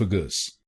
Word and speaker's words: esophagus: gus esophagus esophagus and in this word you have to put stress on the second syllable i.e. soph esophagus so do not pronounce this word as soph gus say it as esophagus esophagus now you know